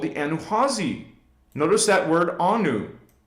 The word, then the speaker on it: Anu: Now, most of the internet and people, historians, will just pronounce it A-N-U, Anu. Well, the Guardians, from millions and billions of years ago, call it the Anu.